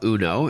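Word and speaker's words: Unoo: alright so the name of the company is uno but it's spelled UN oh oh and I understand you've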